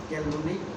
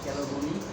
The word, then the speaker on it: clavulanic: cephalosporin, clavulanic acid, সেফুরক্সিন যোগ ক্লাভিউলেনিক acid. আবার বলেন cephalosporin plus clavulanic ক্লাভিউলেনিক অ্যাসিড।